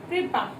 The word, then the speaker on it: कृपा: तो आप इसको उच्चारण करके देखिए, कृपा कैसे बोला गया, कृपा। तो हम लोग कैसे लिखते हैं, हमें लग रहा है भी र को छोटी ई की मात्रा का साउंड आ रहा है।